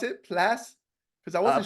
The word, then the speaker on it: Plasse: So that's how you pronounce it, Plasse? Because I wasn't Plasse. sure. I was Yeah, like, I yeah, was like, yeah. saying Place.